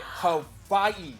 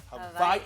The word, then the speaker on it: Hawaii: Hawaii. Not Hawaii. Hawaii. With the That's how V? it's pronounced. Yep, it's pronounced with a V.